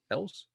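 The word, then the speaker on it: Elwes: And he also trained I always say his name wrong. Carrie Elves. Elves.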